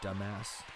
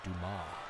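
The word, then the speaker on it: Dumas: that where it's like hey Mr dumbass and at the end he's like it's pronounced Duma I'm gonna stick with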